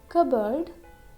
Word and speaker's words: cupboard: Now there are some random common words like receipt, cupboard, coup and raspberry.